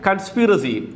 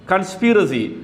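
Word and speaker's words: conspiracy: കൺസ്പിറസി സിഒ എൻ എസ്പി ഐ ആർഎസിവൈ എങ്ങനെയാണ് ഉച്ചരിക്കുക കൺസ്പിറസി കൺസ്പിറസി ഗൂഡാലോചന അപ്പോൾ ഗൂഡാലോചന എന്ന മലയാളം വാക്കിന്റെ ഇംഗ്ലീഷ് വേർഡ്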